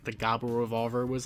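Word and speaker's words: Gavv: how to pronounce uh like gabu for example is written g a v v so a lot of people pronounce it gav and stuff like that so when you see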